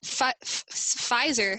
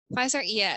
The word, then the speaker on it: Pfizer: So, like, let's see, Pfizer, I think that's how you say it, Pfizer vaccine. Pfizer, so that's one of the first vaccines that's being tested on people.